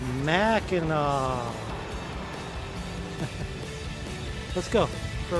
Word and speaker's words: Mackinac: area is called spelled mackinac like i've been pronouncing it uh it's really pronounced mackinaw and in fact when